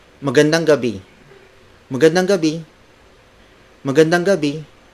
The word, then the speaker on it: gabi: the Filipino phrase for good evening it's magandang Gabi Mugen and OB magodonga be magandang Gabi word for word it's magandang Gabi magandang Gabi magandang Gabi Gabi spelled as G a B